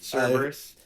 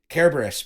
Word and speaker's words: Cerberus: Cerberus. Cerberus, because it's a hard C in Greek.